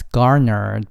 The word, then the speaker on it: garner: It has garnered bipartisan support. It has garnered bipartisan support. It 这个政策，不派遣使节团的政策，has garnered. 大家要注意这个 R 的发音 Garner Garner 获得得到的意思 Garnered Bipartisan Bipartisan